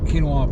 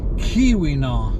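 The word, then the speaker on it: Keweenaw: really brilliant here as well not quite as pronounced in this part of the quinoa peninsula no this time of year you never know the bucks ought to be gathering their herds okay folks it is the kiwina peninsula k-e-w-e-e-n-a-w i know i keep mispronouncing it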